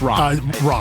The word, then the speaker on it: Ram: Is it Ram or Ram? It's Ram. Ram V, I believe how he pronounces it.